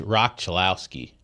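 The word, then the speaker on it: Roch Cholowsky: Uh, by the way, it is pronounced Rock Chilowski opposed to what uh, Commissioner Rob Manfred called him.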